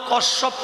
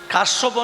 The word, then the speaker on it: কশ্যপ: কদ্রু বাবার নাম হল কশ্যপ মনি তোমার গোত্র কি বল কাশ্যপ নয় উচ্চারণ হবে কশ্যপ কাশ্যপ তুমি যে কশ্যপ